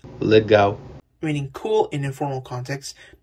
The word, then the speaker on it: legal: When L comes at the end of a word, it's pronounced as W, like in the word, Legal.